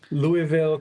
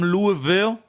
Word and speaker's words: Louisville: Anyone from Louisville? From what I understand, that's how you pronounce it. Louisville. Louisville. Not Louisville. Louisville.